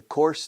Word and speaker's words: course: No, the course, no, this particular class. Okay, the course, this English course. Fíjate cómo se pronuncia curso. Core, or. Four courses. Course.